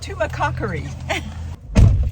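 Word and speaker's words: Tumacácori: It's pronounced Tumacacori.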